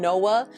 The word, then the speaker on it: Nova: in latin are pronounced as w's so we're pronouncing fashion nova wrong it should actually be fashion noah which means new fashion but that little tidbit